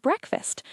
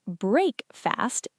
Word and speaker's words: breakfast: We use the phrase have breakfast. Let's break down that second word. It's not break fast, it's breakfast.